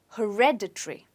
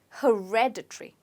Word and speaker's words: hereditary: it on hair okay when it's supposed to be stressed on red so you say it as hereditary okay hereditary say it again hereditary